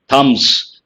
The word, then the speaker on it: thumbs: one all thumbs means what thumbs be silent Ganesh is answered he